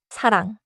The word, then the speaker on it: 사랑: Now the common mistake adding 그 after a final 이응. So the mistake is like saying 사랑그, 공그, 방그. Right. The fix is to end inside the syllable. 사랑, 공, 방.